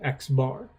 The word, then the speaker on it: X bar: And so this would be pronounced, for example, X bar.